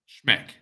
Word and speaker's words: Schmeck: last name and how do you pronounce your last name schmick so it's spelled s